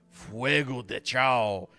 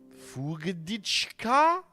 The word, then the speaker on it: Fuego de Chao: So fire level 2, we'll call it Fuego de Chao. But it's all one word, so everyone mispronounces it. So instead of doing Fuego de Chao, they always try and do like Fugadichka.